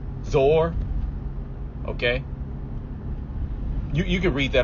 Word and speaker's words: Zoar: cities outside of Sodom: Gomorrah, Adma, Zeboim, and Zama. Or I don't want to pronounce it wrong. Zoar.